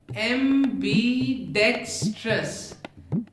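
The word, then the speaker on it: ambidextrous: अगर हम प्रोनाउंसिएशन की बात करें तो एम्बीडेक्स्ट्रस में डेक्स पर जोर लगेगा, एम्बीडेक्सटेरिटी में एम और टेयर पे जोर लगेगा, लेकिन टेयर ज्यादा ताकतवर साउंड करेगा। एम्बीडेक्सटेरिटी, एम्बीडेक्स्ट्रस, एम्बीडेक्स्ट्रस, एम्बीडेक्स्ट्रस, एम्बीडेक्सटेरिटी, एम्बीडेक्सटेरिटी, एम्बीडेक्सटेरिटी।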